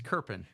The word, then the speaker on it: Kerpan: It's Kerpan. Kerpan. Yeah, it doesn't look that way. It's not how you spell it, but it's how you say it.